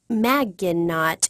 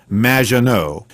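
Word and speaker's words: Maginot: It's M, which rhymes with badge. Uh, as in duh, and no as in more than you. Majo.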